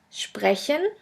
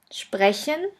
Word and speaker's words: sprechen: combination is as pay which is pronounced like the letter combination shp and sht let's have a look at the examples the first word is sprechen sprechen which means to speak